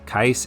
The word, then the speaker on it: Keiss: Keiss is nice. Keiss is crap right now. That's how I remember how to say his name.